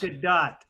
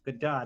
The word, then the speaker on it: Gadot: Pronounced Yes. Good dot. Good dot.